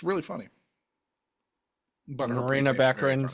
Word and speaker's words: Baccarin: I always would say Baccarin or. No, I think it's Baccarin.